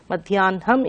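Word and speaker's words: మధ్యాహ్నం: And Madhyahnam we write, but we pronounce it Madhyanam is pronounced as Madhyanham. Madhyanham is correct.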